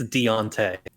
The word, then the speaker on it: Deontay: that how you say his name yeah it's Deontay there's no e in there I know it's spelled like okay you know what there's no